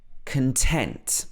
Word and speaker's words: content: not happy with it here the stress is on the tent content next one you